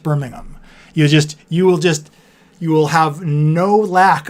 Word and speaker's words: Birmingham: If you ever feel lonely, VBug, just mispronounce Birmingham in a YouTube video and you'll have people flood to talk to you about how it's actually pronounced Birmingham.